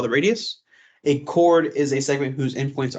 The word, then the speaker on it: chord: this word CH h o r d is pronounced cord not chord it's pronounced cord okay make sure